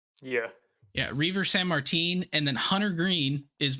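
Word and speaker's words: Reiver Sanmartín: Reaver San Martin? Yeah. Yeah, Reaver San Martin, and then Hunter Green is making the opening day rotation, not opening day start, just in the rotation.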